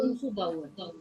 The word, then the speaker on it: umzubauen: Umzubauen. Ja, umzubauen. Die Betonung liegt auf dem ersten Teil. The first half.